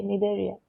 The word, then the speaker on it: Cnidaria: Then Coelenterata is also known as Cnidaria. C is silent, okay, Cnidaria.